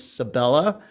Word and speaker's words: Sabella: a new uh newcomer her name is sabella rhymes with capella uh sabella burlingame and